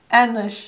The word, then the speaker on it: ähnlich: Two syllables. This one is the dots. Ähnlich.